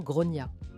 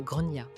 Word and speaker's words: Gráinne: Alors, je précise en Irlande, on prononce normalement Grain comme Gronia.